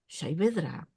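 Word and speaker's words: Saavedra: alers I learned that sabedra is pronounced shedra shra is a last name in Arabic but in in the of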